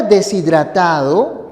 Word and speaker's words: deshidratado: La palabra deshidratado tiene esta pronunciación.